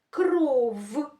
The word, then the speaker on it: кров: Вимовлятися вони люблять твердо. Послухайте. Кров. Любов. Можете повторювати для того, щоб правильно їх вимовляти. Кров. Любов. Верф. степ сім вісім. Ми чуємо, як ці звуки вимовляються твердо.